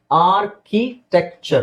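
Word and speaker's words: architecture: ಮಾಡೋದ್ರಲ್ಲಿ ಸೊ ಇಲ್ಲಿ ಇದೇನಿದು ಆರ್ಕಿ ಟೆಕ್ಚರ್ ನಾನು ಹೇಳಿದ್ನಲ್ಲ ನೀವು ಆರ್ ನ ಸೈಲೆಂಟ್ ಮಾಡಬಹುದು ಇಲ್ಲಿ ಆರ್ಕಿಟೆಕ್ಚರ್ ಅಂತ ಹೇಳಬಹುದು ಬ್ರಿಟಿಷ್ ಪ್ರೊನೌನ್ಸಿಯೇಶನ್ ಅಲ್ಲಿ ಇಲ್ಲಿ ನೋಡಿ ಇಲ್ಲೆಲ್ಲೂ ಆರ್ ಇಲ್ಲ ನಿಮಗೆ ಆ ಕೀ ಈ ಟೆಕ್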